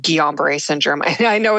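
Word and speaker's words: Guillain-Barré: a rare illness called gomber syndrome and I know it's very hard to pronounce so that's how it's pronounced uh gomber and I remember at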